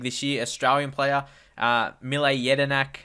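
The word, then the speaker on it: Mile Jedinak: year Australian player uh mle yedinak that's how you pronounce his name I'm not surprised some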